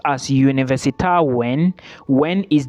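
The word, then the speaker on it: Wien: University of Vienna in uh German it is pronounced as univers when when is w i e n okay and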